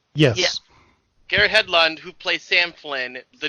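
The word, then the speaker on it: Garrett Hedlund: by Garrett H Hedland is that how it pronounce his name yes Garrett Hedland who plays Sam Flynn the new hero the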